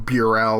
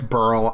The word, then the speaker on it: Burl: whole series, calling him Burell or Burell. It's Burl. I understand. Unless you're going to build a time machine and tell pass me that it's pronounced Burl and not Burell, then I'd think it's a moot point leaving those comments.